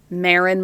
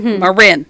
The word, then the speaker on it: Marin: time with that one because it's spelled like Marin my dog but it's Marin okay and where the plan